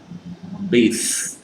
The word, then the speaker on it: bathe: Jadi itu apa itu tadi dari noun, I take a bath menjadi voice pengucapannya. Bathe, bathe.